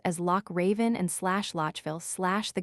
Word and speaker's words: Loch Raven: in such names as Loch Raven and slash Lochville slash the guttural Scotch, and German sound, but locally it is always pronounced as if it were slash k slash.